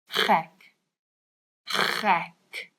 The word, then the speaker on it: gek: And gek is also a bit of a gek word to know, because it's like the ch sound and the ek, which means me.